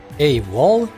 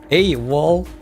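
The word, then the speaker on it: AWOL: about this one specifically ay wall hey wall really that's how you pronounce this uh wall a wall the fact that Christen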